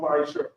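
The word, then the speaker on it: מעשר: Means 10 the Hebrew is pronounced Ma'asher.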